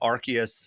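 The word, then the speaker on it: Arceus: Archus, I think Archus is the official pronunciation there.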